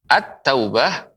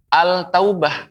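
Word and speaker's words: التوبة: batu atau batu ya Attaubah tak ini namanya huruf Syamsiah singa pengucapannya bukan al-taubah Hai pengucapannya tidak al-taubah tapi apa ad-daulah ya karena dilebur alif lam dilebur ke huruf ta at-taubah begitu pengucapannya kemudian huruf tsa ya huruf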